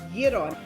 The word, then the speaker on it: gyro: It's important that you know how to say it the right way. It's gyro.